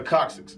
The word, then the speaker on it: coccyx: The anatomy term is pronounced the coccyx, all right?